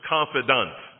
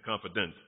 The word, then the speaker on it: confidant: I'm not pronouncing confidant. That's the way we should pronounce it. Don't say confident.